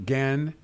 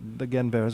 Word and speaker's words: Guenveur: Yes, Roger Guenveur. Guenveur. I've been saying his name wrong.